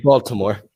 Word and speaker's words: Baltimore: Baltimore. Yeah, I gotta say the T. I don't even think people in America say it properly with a T.